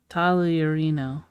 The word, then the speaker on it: Tagliarino: Tagliarino. Tagliarino. So you don't pronounce the G at all. That G is silent.